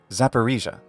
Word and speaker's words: Zaporizhzhia: in English this region and its capital are pronounced one more time just to make sure you got it repeat after me zaparisa and the City of zaparisa is the capital of the zaparisia O blast